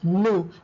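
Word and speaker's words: nous: we it's pronounced as new the S is silent Vu once again the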